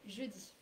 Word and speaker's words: jeudi: I heard a bit of an U in je. Oh, je. Ouais, It's actually je. it's the same. So these guys are the same pronunciation as je.